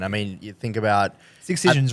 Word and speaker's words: Excision: I mean, you think about Excisions, right? Excision's label, yeah. So Wait, how like do you pronounce it?